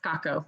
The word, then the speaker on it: Sacco: It's Skako. It rhymes with taco.